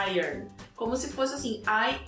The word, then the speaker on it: Iron: E a pronúncia ã é um pouco confusa, porque as pessoas acabam falando iron. Eu gosto de iron, mas a pronúncia correta é irn.